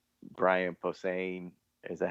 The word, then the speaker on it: Posehn: The only two I can really remember is, I think it's Brian Posehn.